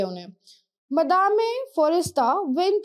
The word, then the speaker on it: madame: Okay, ये French word है, तो अगर आप चाहो तो इंग्लिश में इसको मैडम बोल सकते हो, but basically if यू गो in French तो इसका प्रोनाउंसिएशन जो है वो मदामे ही होता है।